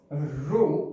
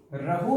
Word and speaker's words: rho: ये मैंने जो यहां पर कांस्टेंट बोला, कांस्टेंट रो, इसको हम बोलते हैं रो, ग्रीक लेटर है RHO, रहो नहीं कहीं होगा, रो हम जनरली बोलेंगे, रो प्रोनाउंसिएशन में रो होगा।